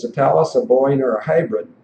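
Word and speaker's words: Thales: is a tals th I think it's pronounced Talis uh I guess it looks like fails to me but th fails is a little light in the loafer so I guess I'll go with Talis but it doesn't matter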